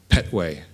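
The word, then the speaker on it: Kpetoe: little town in Ghana spelled KP t o e but guess how it's pronounced Petway I couldn't swear that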